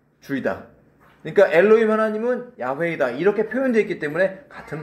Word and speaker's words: 야훼: 자, 이것을 우리는 이해할 수 없지만 빨리 발음하면 야훼 이렇게 발음한다고 알려져 있는 것이에요.